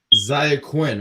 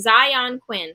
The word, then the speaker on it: Zion Quinn: get zaya quinn right i wanna make sure i say his name right because i always pronounce stuff hold on let me see let me make sure it's zion quinn zion thank you see that's why